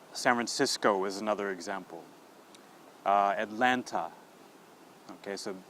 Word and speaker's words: Atlanta: Atlanta. Okay, so when you see the A at Atlanta, we pronounce it.